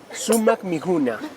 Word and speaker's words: Sumaq mikuna: Sumac mijuna, que significa comida deliciosa.